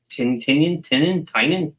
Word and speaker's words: Tynion: Tynion.